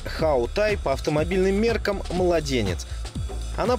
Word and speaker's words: Hawtai: марках авто вернее правильно произносить how той по автомобильным меркам младенец